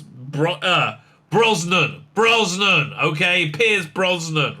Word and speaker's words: Pierce Brosnan: time i mention him he would direct a pronunciation much worse than that is pr piers bronson brosnan look it up pierce bro uh brosnan brosnan okay pierce brosnan right i think the reason he was so